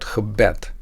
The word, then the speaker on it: gebed: It has 2 syllables. When mimicking the word stress with a percussion instrument, it sounds like this. Gebed, gebed, gebed. The first part of the word, the prefix ge, is unstressed.